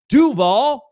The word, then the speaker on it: Duval: stuff that he said it's Duvall that's how you say it that's how you you